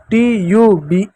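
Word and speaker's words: tube: ई कुछ नहीं लिखेंगे क्योंकि शब्द के अंत में ई आता है तो ई साइलेंट होता है।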